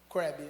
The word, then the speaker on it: Crabb: Crabb. Ela falou, é Larry Crabb, eu estava pronunciando errado.